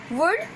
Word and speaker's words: would: We will pronounce could, would, should, okay, because L is silent here.